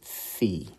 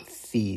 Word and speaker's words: phi: 3D and those coordinates are row Theta and F and I'll go ahead and spell those out